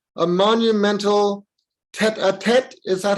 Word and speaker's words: tête-à-tête: Okay, so Sharanya, please, you're going to tell a story called A Monumental Tête-à-Tête. Is that how we pronounce it? It's a tête-à-tête. It's a French word.